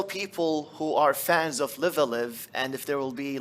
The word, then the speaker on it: Live A Live: no g10 dink is again yeah that's a live alive that's how it's pronounced live alive is actually the first game